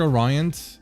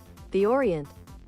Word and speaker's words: Orient: My pronunciation is it is it is it the word Orion? I was not sure how to pronounce it.